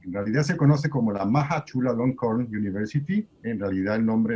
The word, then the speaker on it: Maha Chulalongkorn: se pronuncia la universidad en Tailandia? Bueno, en realidad se conoce como la Maha Chulalongkorn University.